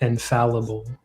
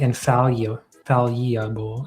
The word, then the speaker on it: infallible: you want you you're gonna want to pronounce that infall infallible. How am I saying it? You said like infallable.